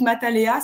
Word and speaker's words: Matalea: Mais sur le site Matalea ça s'écrit m a th donc math et alea comme aléatoire tout attaché matalea.